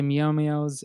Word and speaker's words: Meow Meows: All right, then that question for you: when can we expect the Meow Meows, and how do I pronounce them properly?